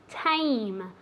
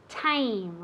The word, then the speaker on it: tame: Remember, it's written with an A, but really, you pronounce it as if it were E-I-E. Tame. Tame.